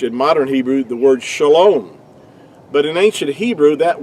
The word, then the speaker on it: shalom: points do we have the o sound it's pronounced really to be more accurately would be shalom in ancient Hebrew and this you might want